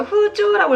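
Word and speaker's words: 風潮: 코노 후조가 태착 쓰레바 이 풍조가 정착한다면 이 풍조 후조라고 읽어요.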